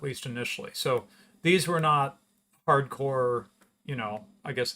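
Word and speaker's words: Nantes: city is not it's spelled n-a-n-t-e-s but it's pronounced not um and uh it's going to be critical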